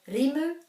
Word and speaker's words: rimu: is on the or doesn't have any macrons so rimu are both short sounding vowels as it is in